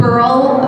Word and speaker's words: Burl: So my name is Burl, rhymes with girl, Pickle Antonio.